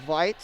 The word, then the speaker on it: Veit: Now, I forgot that we were looking at Marley Veit. Again, she is a young lady, a junior out of Germany, so that's the pronunciation of her name.